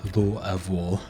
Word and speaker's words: Louisville: it's named after King Louie but it's pronounced Louisville um I say it with even more of a twang just because of my my uh appalachin accent that I had but uh L of is essentially how to say it um everyone